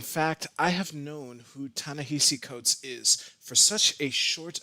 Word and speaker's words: Ta-Nehisi Coates: amount of time i didn't even know how to pronounce his name so if in this video you hear me say tanisi codes that's just force a habit but i'm pretty sure i have it down just two to summarize the